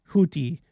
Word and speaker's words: Houthi: I've been corrected. It's pronounced Houthi or Houthi.